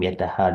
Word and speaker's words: यतः: This is the Visarga coming. H under the dot. Sorry. H and then under the H is there is a dot. It is Visarga. Okay, so it will be pronounced as saha, Yes. and the last word yataha.